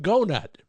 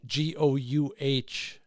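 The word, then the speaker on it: GoughNuts: It's called Gonut. Yeah, it's spelled like donut with a G, Goughnut.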